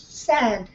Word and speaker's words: said: men men yes yes said said so even though it's spelled AI the sound is e right okay so the next